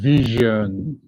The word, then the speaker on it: vision: And this has to do with vision. Vision. Vision. Letter S you're seeing here is Z sound. That's why I'm pronouncing as vision.